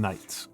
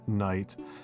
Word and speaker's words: knight: The silent K in night. That's that's a that's an older form, right? That's that's an older form. Uh but um you know we used to say the K and knight.